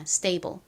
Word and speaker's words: stable: stable. s 바로 뒤에 t가 올 때 t는 좀 세게 된 소리처럼 발음되는 경향이 있다는 점도 설명드렸죠.